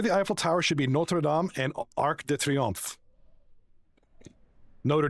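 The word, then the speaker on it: Notre-Dame: It's Notre Dame in France. It's a church, right? Notre Dame. That's how it's said. The university is Notre Dame, but in France, it's called Notre Dame.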